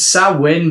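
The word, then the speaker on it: Samhain: pronounced that correctly though it's sawin but it's really really difficult because no does it yeah exactly it's really it looks it sounds nothing like what it looks okay okay so sa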